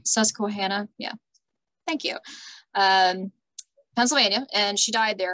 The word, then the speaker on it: Susquehanna: this is a county i always have issues pronouncing sesame squad susquehanna yeah thank you um pennsylvania and she died